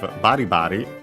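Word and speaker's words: ばりばり: Then we have baribari. And onomatopoeia. Accent on the first syllable, like most of those, vigorously, roughly, and so on.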